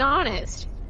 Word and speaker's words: honest: H is silent in many English words for various reasons. The word our, and honest come from French, and in these cases English took over the French pronunciation as well as the word.